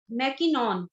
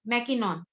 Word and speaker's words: MacKinnon: अब एक हमारे मनोवैज्ञानिक हैं, उनका नाम है मैकिनॉन। मैकिनॉन ने 1962 में, मैकिनॉन अगर स्पेलिंग लिखना चाहें तो लिख लीजिए, स्पेलिंग लिख लीजिए MACKINNON, मैकिनॉन।